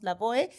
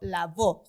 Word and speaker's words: Lavoe: con e está bien normalmente los que somos latinos le decimos la boe pero como él vivió en Estados Unidos Entonces se quedó la voz justo por esto que dices que la e al final es muda y pues da mucha como